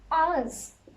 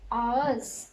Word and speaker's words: ağız: Ağız. This one is A. So you have to read this A, then you have to ignore this, and then this one you have to pronounce A. Ağız, mouth.